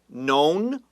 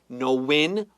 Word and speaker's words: known: Now, the word known has two pronunciations. We could say known or knowin. Both are okay.